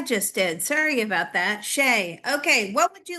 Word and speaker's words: Che: So, I thought, well, I'll get Liz cross and we'll get to the mystery and the root of the story behind Sheay and ask him if he's ever been channeled in this way before.